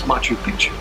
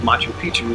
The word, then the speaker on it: Machu Picchu: And yeah, that's how you say it. It's Machu Picchu. I always call it Machu Picchu for these years, but just goes to show what I know.